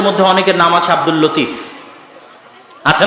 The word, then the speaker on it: লাতিফ: আমাদের মধ্যে অনেকের নাম আছে আব্দুল লতিফ। আছে না নাই? আছে। এই লতিফের সঠিক উচ্চারণ হচ্ছে লাতিফ।